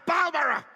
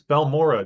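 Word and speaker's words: Balmora: ALL THE WAY TO BALMER. To Balura? Did nobody tell this poor voice actor how to pronounce any words? It's Bal Mora, dude.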